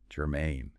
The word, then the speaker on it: germane: Germain. Stress on that second syllable. Main.